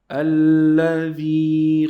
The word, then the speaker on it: الذي: Don't forget, we pronounce this lam 2 times.